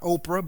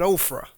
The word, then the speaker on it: Ophrah: Verse 27 says, "And Gideon made an ephod of it and put it in his city, in Ophrah," not Oprah, but Ophrah.